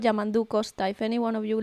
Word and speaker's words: Yamandu Costa: It's called Yamandu Costa.